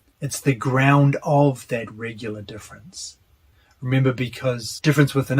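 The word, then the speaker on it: différance: about something completely different difference with an a difference with an E his change doesn't alter the pronunciation of the word so difference with an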